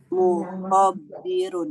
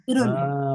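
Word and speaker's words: مخبرون: Mukhobirun. Salah. Enggak usah pakai tasdid. Enggak usah pakai tasdid. Muhbirun. Mukhbirun. Betul.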